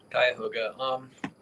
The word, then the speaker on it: Cuyahoga: What were his margins in Franklin and how do you even pronounce that? Cuyahoga? Cuyahoga.